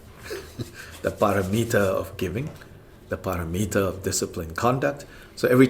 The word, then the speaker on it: paramita: we should learn how to say the Sanskrit paramita. The paramita of giving, the paramita of disciplined conduct.